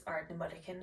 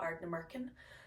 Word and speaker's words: Ardnamurchan: all of you that it's Ardnamurchan and not Ardnamurchan.